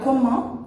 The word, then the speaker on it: comment: Então, no exemplo de cima, comment ça va, vocês podem observar que na palavra comment eu não falo o T do final. Comment ça va?